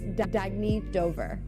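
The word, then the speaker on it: Dagne Dover: can live life intentionally oh it's pronounced Dagny Dover Dagny means new dawn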